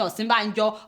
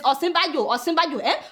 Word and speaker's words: Osinbajo: Some of you are saying Osinbajo. It is Osinbajo, But honestly, I could care less whether Buhari knows how to pronounce the man's name or not.